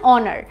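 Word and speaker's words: honour: অনার টু the best student এখানেও দেখো এান অনার অনার মানে কি এখানে একটা আর্টিকেল এবং এখানেও কিন্তু এইচ এর প্রোনাউন্সিয়েশনটা সাইলেন্ট থাকছে এখানে অনার সাউন্ড হচ্ছে এর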